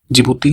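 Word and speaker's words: Djibouti: Somalia हो गया, इरिट, Ethiopia और जिबूती जिसका स्पेलिंग डी से शुरू होता है।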